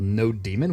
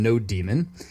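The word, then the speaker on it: nodemon: said a package called No demon which is spelled like that and there are different pronunciations for this so that's just the way I say it so let's hit enter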